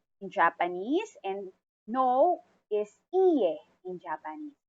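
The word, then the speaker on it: いいえ: This is also answerable by yes or no or hi in Japanese, and no is iye in Japanese. Again, it's iye. Longer pronunciation of that e.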